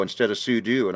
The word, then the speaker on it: sudo: say i also say pseudo instead of sudo and i know what super user do it's like technically sudo's more correct but i don't know